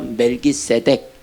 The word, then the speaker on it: 멜기세덱: 그러니까 멜레크, 체데크를 합쳐서 멜기세덱 이렇게 발음을 하는 거예요.